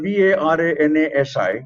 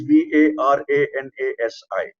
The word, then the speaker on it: Varanasi: okay for instance uh did you know it was v-a-r-a-n-a-s-i what would you say is v-a-r-a-n-a-s-i varanasi no that is wrong it is varanasi oh okay yes in